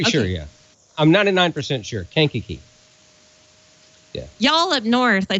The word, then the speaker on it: Kankakee: Oh, boy, I should have asked Eric how to pronounce this ham fest. AC9BX Eric wants us to know that Kankakee Area Radio Summit Hamfest is Sunday, July 21st.